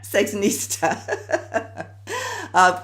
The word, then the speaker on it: Sexinista: Entice Me and the chief, how do you pronounce this, sexnista? Is that what you call your time? Yeah. Sexnista.